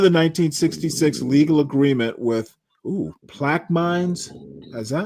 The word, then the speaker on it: Plaquemines: The end of the 1966 legal agreement with plaque mines. Is that how you pronounce it? How do you pronounce this, Solid Snake? It's plaque mines? Plaquemines? Plaquemines? Plaquemines. Plaquemines Parish Schools Yeah, announced I'll Tuesday.